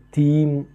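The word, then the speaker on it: थीं: இந்த ஆக்சிலரி வெர்ப்ல மேல ஒரு டாட் இருக்கு பாருங்க சோ அது தீம் அப்படின்னு உச்சரிக்கணும் சோ இம் கொஞ்சம் சோ சைலெண்ட்டா உச்சரிக்கிறோம் சோ இந்த மேல உள்ள சென்டன்ஸ்ல பார்த்தீங்கன்னா ஒரு பெண் அப்படின்றதுனால சிங்குலர்னால அந்த டாட் இருக்காது சோ இங்க இந்த சென்டன்ஸ்ல மோர் தன் ஒன் விமன் அதனால தீம் அப்படின்ற அந்த இம் சவுண்டோட இம்ஹார சவுண்டோட முடியணும் சோ குச் மஹிலாயே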